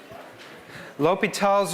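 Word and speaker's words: L'Hôpital: the same thing and it's still pronounced l'hopital even if it's got an s in it all right so that's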